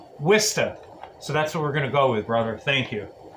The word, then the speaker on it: Worcester: But you told me that it's pronounced Wista.